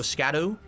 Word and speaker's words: Skadu: Shadow, so Skadu. Supposed to say it like shadow. So shadow, Skadu. So it's supposed to sound exactly the same, but it really doesn't.